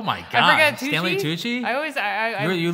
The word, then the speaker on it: Tucci: say it oh my god i forget stanley tucci i always i i really looked at you like when i saw it stanley to touch it i got confused i think you thought stanley